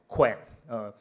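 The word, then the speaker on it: Qwen: So why it is called Quen?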